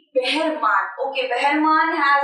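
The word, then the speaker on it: Behrman: Question मुझे क्या है, बहरमान। तो ये जो थोड़ा सा वर्ड है ना, ये थोड़ा सा किसी को लगेगा बहराम है, बहरमान है। Basically the right pronunciation will be बहरमान।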